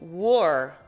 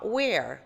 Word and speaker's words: were: Passa a ser you were. Perceba que a pronúncia é fechada. Were, não. Where? Where? Quer dizer onde?